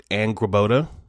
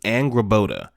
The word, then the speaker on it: Angrboda: I believe her name is pronounced Angrboda. Her name is pronounced Angrboda.